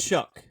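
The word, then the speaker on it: Shough: Um it's Shuck. It's pronounced Chuck.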